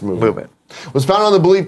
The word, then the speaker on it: MVMT: Movement Watches, pronounced as MVMT, pronounced Movement.